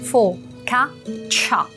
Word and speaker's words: focaccia: Focaccia. Temos esse tchá final como se fosse um TC, que é o mesmo tchá do tchau. Juntos, então, começando pelo final. Tchá, accia, focaccia.